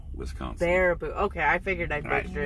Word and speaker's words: Baraboo: G, it's pronounced Baraboo, Wisconsin. Baraboo.